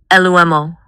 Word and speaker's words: Lumo: Before we go, what about lumo? Lumo. It sounds like light or lumen. It's two syllables.